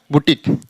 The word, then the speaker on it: boutique: ऐसे यहां BOUTIQUE, इसका उच्चारण क बुटीक।